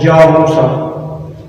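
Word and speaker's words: جاموسة: In Arabic we pronounce it Jamusa.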